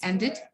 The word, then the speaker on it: ended: just ended our relationship can you feel that it sound once you pronounce ended yeah there is no t sound there is not this sound it's the ended it's the